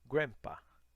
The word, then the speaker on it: grandpa: Esse D não é necessário você falar, né? Aqui na transcrição fonética, claro que ele fala, é uma transcrição fonética mais britânica, mas na americana é como se fosse só um M, né?